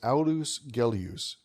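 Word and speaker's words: Aulus Gellius: For those who want to find out more about the author of today's reading, his name is Alus Gelus, which is spelled A U L U S G E L L I U S.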